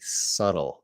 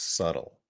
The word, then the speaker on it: subtle: word's a little tricky subtle that b is silent so you never want to say that b subtle no b sounds subtle and if we go